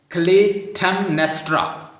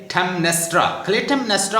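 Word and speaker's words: Clytemnestra: एगमेमन की वाइफ का जो नाम है वो काइंडली लिख लें, क्लेटेमनेस्ट्रा। प्रोनाउंसिएशन थोड़ा सा डिफिकल्ट हो सकता है, स्पेलिंग आप याद कर लें, आप आसानी से कर सकते हैं। CLYTEM, क्लेटेमनेस्ट्रा क्वीन है और उसके हस्बैंड का नाम है द एगमेमन।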